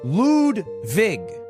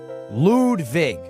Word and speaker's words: Ludwig: My name is Lwig, but it's pronounced Ludvig. Lude Vig.